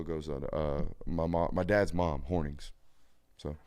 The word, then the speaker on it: Hornung: My dad's mom, Hornings. So it's actually pronounced Horning, not Hornung. It looks Hornung, but it's Horning.